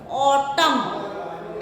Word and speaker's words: autumn: Autumn, N is silent.